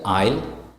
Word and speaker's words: aisle: The letter S is not pronounced before L in the following words like aisle, A-I-S-L-E. So S is silent.